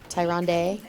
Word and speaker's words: Tyrande: was a bit helpful tyronn d it's a how it's pronounced Tyrande hi Randy I say